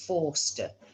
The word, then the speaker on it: Forster: Now, it was always spelled Foster, Foster, but pronounced Forster.